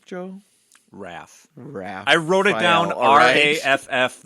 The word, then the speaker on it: Raph: Raph.